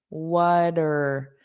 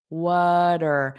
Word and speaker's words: water: Notice that pronunciation, water. So it just sounds like an not a strong R, water. And this T will become a soft D.